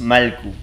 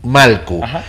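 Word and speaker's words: Mallku: pronunciado o cómo esara Entonces nosotros le decimos malku malku es decir la doble l suena como l malku Ajá bienvenidos Cómo están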